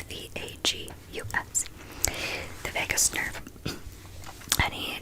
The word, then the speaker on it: vagus: he put it like right here on my vagus nerve, and he told me about the vagus nerve. It is not spelled like Las Vegas. I thought that for the longest time. It's V-A-G-U-S.